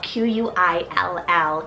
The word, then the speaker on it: Quill: famous Q name here we have quill fell q-u-i-l-l quill a great kind of modern and different